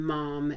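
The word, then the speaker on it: momme: my experience anywhere from a 16 mom and that's spelled m-o-m-m-e that is the weight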